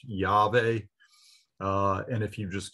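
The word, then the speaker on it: Yahweh: sacred name of god usually pronounced yave uh and if you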